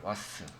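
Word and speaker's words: WAS: 그냥 읽어서 그냥 와스라고 읽어요. 이거를 와스.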